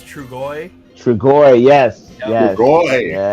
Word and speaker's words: Trugoy: It's like Is it Truyo or something like that? I can't remember. Close, very close. I can't remember how to say his name. I always pronounce his name wrong, or I think I do. It's Trugoy.